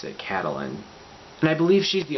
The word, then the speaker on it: Catelyn: And then over in Riverrun we have Catelyn, which I believe that is how you pronounce it, Catelyn.